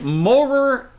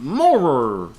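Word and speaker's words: Mowrer: The police visited Morer Animal Company. I'm assuming that's how that's pronounced. I don't even think that's even... Morer, M-O-W-R-E-R.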